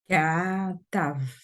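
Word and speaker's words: כתב: Le deuxième, si quelqu'un veut le prononcer, Katav. katav. Katav. Le ta est plus court que le ka. Mais c'est à peine sensible. Hein, c'est à peine si on les entend, la différence.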